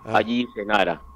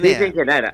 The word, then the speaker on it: Sisi Genara: muchos medios de comunicación, allí Senara, por favor. ¿A quién? Allí Senara, la fundadora de Lo Insólito. Ah, no, es Sisi Genara. Ah, bueno, la claro, pronunciación, Sisi Genara.